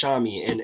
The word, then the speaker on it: Shomade: And this, Xiaomi, pronounced Xiaomi, and her name is Bukola Shomade. She the Xiaomi, the S, it's Nigerian, so their S has a SH sound. That's why it's like that, Xiaomi.